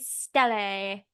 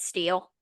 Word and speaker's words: stele: For years I called it steel. I think a lot of people did. My stele. Who the fuck is pronouncing it stele? It's fucking steel.